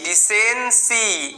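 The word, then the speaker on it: decency: আছে সি এর পরে ওয়াই থাকলে সি এর উচ্চারণ সের মত হয় তো এটাকে সি ডিসেন্সি কি হলো ডিসেন্সি ভেঙ্গে ভেঙ্গে এরকম ভাবে উচ্চারণ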